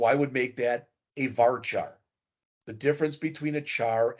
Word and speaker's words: varchar: things they look weird they're actually pronounced Char varchar n Char and n varchar a field that's a